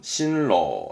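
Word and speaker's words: 新郎: 발음은 신로, 신랑의 신로, 신로. 이게 붙으면 이제 신랑 신부죠.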